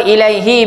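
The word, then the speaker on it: إِلَيْهِ: Okey, kenapa ilaihi baca hi, kita tak baca hu? Kenapa? Sebab sebelumnya ada huruf ya mati.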